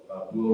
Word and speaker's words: Buo: Buo rhymes with duo.